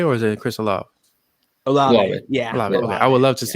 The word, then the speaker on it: Olave: I can never see if I pronounce this the right way. Is Chris Olave or is it Chris Olave? Olave.